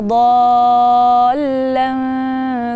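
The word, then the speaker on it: ضالا: Nah, itu di dhallan seringkali membacanya do-nya dengan dal dan tidak panjang. Jadi gini, contoh. Wa wajadaka dhallan fahada. Nah, itu do-nya tidak panjang dan dot-nya itu malah diganti dengan dal.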